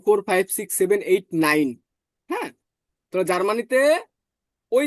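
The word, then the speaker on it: nein: এ ই থাকে এ তাহলে এটার উচ্চারণ রসয়ের মত হয় কেমন হয় রসয়ের মত হয় ক্লিয়ার এজন্য দেখেন নাইন এন ই এন নাইন নাইন মানে নো সবাই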